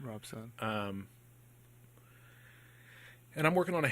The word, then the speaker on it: Robson: our OBS o n Rob Sun pronounced Robson but it's built Rob Sun Robson and I'm working on